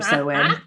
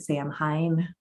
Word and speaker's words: Samhain: am now to know how to pronounce samhain or sewing it's so oh my gosh i have pronounced that word wrong probably a dozen times on this part of me too every time it showed up i think i was calling it sam hein because that's how it's